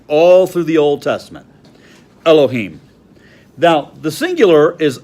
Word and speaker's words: Elohim: the top word over there in Hebrew is Elohim properly pronounced Elohim and it means God here's the confusing part that's the plural but it's used of God all the time all through the Old Testament Elohim now the singular is L or L AHA